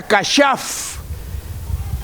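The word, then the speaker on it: כשף: según el antiguo testamento dice el hebreo que la palabra se pronuncia cachas qué significa en hebreo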